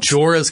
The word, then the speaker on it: Jorah: Jorah.